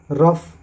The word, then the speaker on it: rough: उसके बाद जहाँ पे OUGH आता है वहाँ पे उसका उच्चारण ऑफ से होता है, ऑफ। जैसे कफ, CAUGH कफ, ENOUGH इनफ, ROUGH रफ।